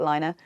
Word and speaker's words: Laine: And the Finnish pronunciation apparently is Laine. So I'm going to say Laine.